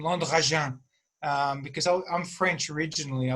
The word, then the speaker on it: Landragin: And of course, Landragin was impossible to pronounce for Australians. And so I ended up kind of opting for Landragin as a pronunciation.